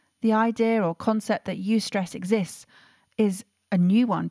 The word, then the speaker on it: eustress: ever good for us and she said yes you stress i hadn't heard of you stress eustress is spelt e-u-s-t-r-e-s-s and it means beneficial stress from